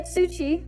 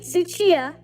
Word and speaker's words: Tsuchiya: Drift King himself, Keiichi Tsuchi, or Tsuchi Keiichi. No, I said his name wrong, fuck's sake. Keiichi Tsuchiya, or Tsuchiya Keiichi.